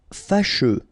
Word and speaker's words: Fâcheux: Fâcheux. So final X not pronounced, and then you get your combination of U, E.